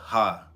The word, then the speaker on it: Ha: cuz I've noticed some people pronounce my name, they use pronouncing it limit breaker, limit breaker h lemon breaker ha and it's like nah it's limit breaker ha like my name is ha ha is short for but that's what it